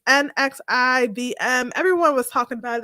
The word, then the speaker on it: NXIVM: I never know how to pronounce this. NXIVM. It's NXIVM.